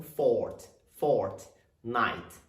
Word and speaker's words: Fortnite: E a pronúncia dela a primeira palavra é tônica, então é fort, lembrando que os dois T são mudos, tá? Então, fort, night.